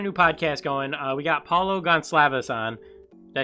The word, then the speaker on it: Paulo Goncalves: We got Paulo Gonclaves on.